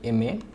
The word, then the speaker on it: MA: তারপর হচ্ছে দেখো এখানে আরেকটা সংক্ষিপ্ত ফর্ম দেওয়া আছে MA, এখানে আমি একটু দিয়ে দিই MA। দেখো এই যে MA, এই যে এম উচ্চারণটা দেখো এ উচ্চারণ হয়েছে, একটা ভাওয়েল সাউন্ড হয়েছে, যার কারণে এইখানে আমরা এন ব্যবহার করে কি ব্যবহার করছি, এন ব্যবহার করছি।